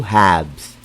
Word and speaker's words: halves: call that two halves remember it's silent l i repeat two halves what if the question